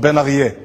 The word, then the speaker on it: Ben-Arieh: to pronounce my name which by the way is pronounced benier and the translation to